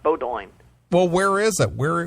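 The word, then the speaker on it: Bowdoin: you never heard of Bodo college now what is it it says the college is is pronounced Bodo well where is it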